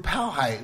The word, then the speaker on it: Powhite: Okay. Wow. White. No. P-O white.